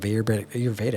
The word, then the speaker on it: Ayurveda: Now I know probably I'm just touching the very, very, very beginning of Ayurveda.